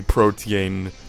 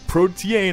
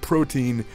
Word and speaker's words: Protean: is going to be protean protan I'm learning to say it right because for the longest time I said protein and apparently that's wrong and I apologize for